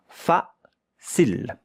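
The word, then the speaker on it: facile: But the E at the end, here you have a consonant. Here you have a E, a voil. You don't hear it.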